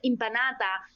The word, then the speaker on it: impanata: a Carne impanata and look how I pronounce pronounce impanata is like Empanada like Spanish right so we have a